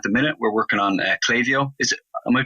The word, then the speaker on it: Klaviyo: Klaviyo? Yeah, you are. It is, yeah. Brilliant. It's Klaviyo or Klaviyo. But in my pronunciation of it, my understanding is that it is Klaviyo.